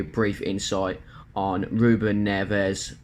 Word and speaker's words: Neves: brief insight on ruben neves or hear the portuguese pronouncing ruben nesh sent midfielder uh predominantly